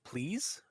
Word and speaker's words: pleased: Fun Bun looked pleased? Yeah, there's no D on the end. Okay, yeah. Oh, I heard you say the D. I was being like, is he saying it wrong?